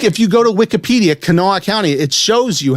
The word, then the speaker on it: Kanawha: it up like if you go to wikipedia kanoa county it shows you how to say pronunciation yeah so i was just kind of